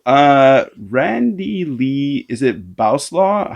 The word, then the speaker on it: Bowslaugh: randy lee is it bauslaw how do you say your last name beau's law bose law uh bose law okay i'm a canadian i say so boslaw i'm gonna what ah